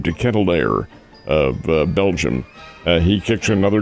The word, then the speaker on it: De Ketelaere: 3 minutes later, here comes, and I think he pronounces his name De Ketelaere of Belgium.